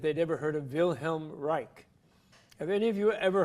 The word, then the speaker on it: Reich: room I'm most interested bill him rei CH Reich like the Third Reich spelled like that not rei k re there's a Theodore